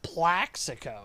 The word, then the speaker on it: Plaxico: stupid plexico we made it what a name though like can we break that name down plexigo plexico Burris crazy and it's really should be pronounced Plaxico because of the X it should be called